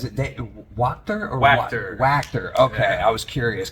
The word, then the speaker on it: Wachter: Wachter. Okay, Yeah. I was curious because I could not find the correct pronunciation anywhere.